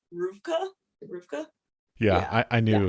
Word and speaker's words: RVCA: from my partner because I always thought it was rdca but apparently you pronounce it because it's like skateboard and Surf and I'm like I'm not a border but it's pronounced Rua Rua yeah I I